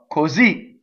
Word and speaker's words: così: Così. So the accent is on the Z, so the O is closed.